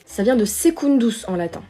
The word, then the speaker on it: secundus: Ça vient de secundus en latin. Secundus qui s'écrit avec un C qui se prononce K.